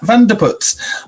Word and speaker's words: Vandeputte: real treat we are joined by van der putz hey how are you doing i appreciate that pronunciation of my surname very much thank you well we